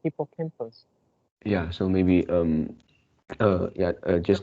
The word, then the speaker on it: hippocampus: Yeah, but just now you pronounce hippocampus. Yeah, so maybe yeah, just now I didn't pronounce well. Oh, Yeah, so it is hippocampus.